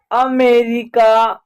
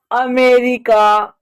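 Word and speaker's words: America: ए क्या उच्चारण होगा अमेरिका अमेरिका यानी अ का उच्चारण ए का उच्चारण अ हो रहा है क्लियर हो गया चलिए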